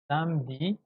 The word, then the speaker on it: samedi: mercredi jeudi vendredi samedi la e on le prononce pas samedi et nous avons ici